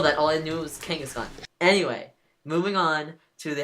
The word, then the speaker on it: Kangaskhan: Kangaskhan. Okay. I thought it was Genghis Khan. It's based off of Genghis Khan, but I didn't know that. All I knew was Kangaskhan.